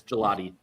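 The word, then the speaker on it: Gillotte: But I was going to say so is that it's Do you pronounce that? Gelotti like the like the dessert gelato. Yes, it's Gelati.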